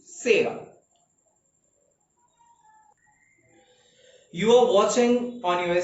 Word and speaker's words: Chera: It's Chera, but correct pronunciation Sera.